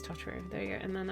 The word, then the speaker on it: Totoro: theme I have but I have tooto no yeah no Totoro I literally I say it wrong every time it is Totoro there you go and